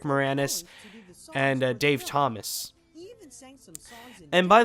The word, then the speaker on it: Moranis: do apologize for that mistake that I've done for Rick morine uh I feel very terrible that's the worst uh Mis mispronunciation that I've done it's Rick Moranis and Dave Thomas and